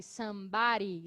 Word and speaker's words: somebody: Eu estou pronunciando um pouco com som de R, somebody, riri, porque é uma pronúncia um pouco mais... É uma variação da pronúncia americana que esse D pode ficar com um som de R, somebody. Ok? Mas vocês podem pronunciar com adi.